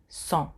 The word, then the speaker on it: sont: Nous sommes, you don't pronounce the S at the end either. Nous sommes, vous êtes. Ils, elles sont.